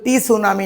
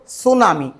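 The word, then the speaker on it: tsunami: তখন টরনেডু সৃষ্টি হয় সুনামি সুনামি বানানটা একটু খেয়াল রাখবা সুনামি বানানো টি এর উচ্চারণ হবে না টি সুনামি আসলে কিন্তু টি সুনামি নয় এটা হল সুনামি সুনামি জাপানি শব্দ সু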